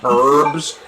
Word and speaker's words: herb: Oh my god, are they really giving me more blue herbs? Hey, what? It's herb. The H is silent.